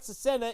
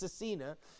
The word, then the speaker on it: Cecina: Now, just so you know, I've been pronouncing his name wrong the whole time. It's not Cecina, it's Cecina.